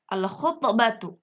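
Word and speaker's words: الخُطْبَةُ: Contoh Untuk huruf kha, al-khutbatu, alif lam dibaca jelas.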